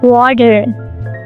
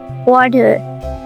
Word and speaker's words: water: The flap T typically happens in unstressed syllables when the T comes between vowels, like water. There is a T in between two vowels, A and E, and it changes to a flap T, like water. wadder, badder, badder.